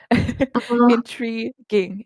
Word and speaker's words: intriguing: Um, you see that letter U there? We don't say it. I don't know why it's there. Intriguing.